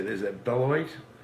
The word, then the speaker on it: Beloit: Is it Beloit? Beloit.